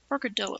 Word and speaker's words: Porcadillo: Porcadillo, right? She's like a porcupine armadillo. Okay, they all do like poses. They're always posing all the time. Right, Dio, okay. Porcadillo. Like Amarillo or Bernalillo.